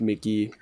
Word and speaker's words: Mk.gee: has an EP title it's pronounced Mickey that's funny okay I